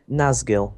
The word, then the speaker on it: Nazgil: So please welcome Nazgil, if I ever pronounced that correctly. Yep, it's pronounced correctly.